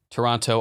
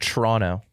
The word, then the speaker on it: Toronto: Toronto you it's pronounced Toronto Toronto you don't you don't do the second T I don't believe yeah